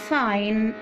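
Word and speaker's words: sign: لو خدت بالي في الجي سايلنت، الكلمات اللي فيها جي سايلنت، هتلاقي دايما الجي المتبوعة بإن بتكون سايلنت، يبقى دايما ملحوظة كده نعرفها.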